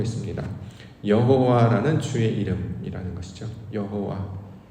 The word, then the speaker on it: 여호와: 여호와라는 주의 이름이라는 것이죠 여호와 자 우리 이제 소리로는 정확하게 발성은 못하는데 이제 보통 이제 야라는 말씀으로 많이 하고 여기 이제 아도나이 모음이 붙어져 있어서 우리는 여호와라고 발음을 합니다 실제로이 발음을 정확하게 낼